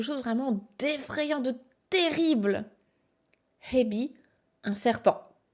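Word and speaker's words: へび: Hebi, un serpent. À ne pas confondre avec ebi, les crevettes. Hein. Faites bien attention, il y a un H, donc il faut le prononcer.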